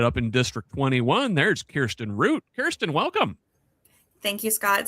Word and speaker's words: Kirsten Root: My name is Kirsten Root. Thank you so much for pronouncing it correctly.